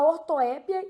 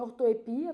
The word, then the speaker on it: ortoépia: Te deu conceitos gramaticais, a ortoépia, e a gente pode falar também ortoepia, tá?